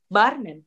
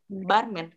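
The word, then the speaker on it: бармен: Sebenarnya dalam beberapa kasus Y itu nggak dipronounce benar-benar Y, tapi E juga bisa. Tergantung penekanan. Sekali lagi penekanan. Karena dia nggak bertekanan di sini. Tekanannya kan di sini ya. Jadi dia dibacanya barman.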